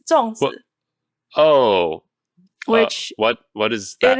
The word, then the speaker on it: 粽子: How do you pronounce it again? 粽子. Can you say it one more time? 粽子. 粽子.